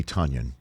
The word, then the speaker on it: Tonyan: it's tuning right better it's tonya right yes sir rhymes with funyun is that how basically